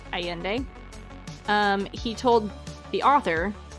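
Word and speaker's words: Allende: the name Carlos aende spelled Al l l n d alende but I'm trying to pronounce it aende um he told the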